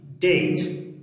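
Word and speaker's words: debt: اوس راځو موږ ویل چې مخکې له ټي نه که بي چېرته قرار ونیسېږي بیا هم څه ده؟ دا نه تلفظ کېږي. ډیټ قرض ته ویل کېږي.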